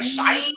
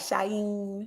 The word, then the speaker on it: SHEIN: I heard it was like Shine or Sheen, but I always say Sheen. So. I say Sheen, but some people are like Shine.